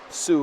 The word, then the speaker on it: Sault: Ross sterling Ross has helped me fix the pronunciation of Sioux College thank you again sterling Ross for the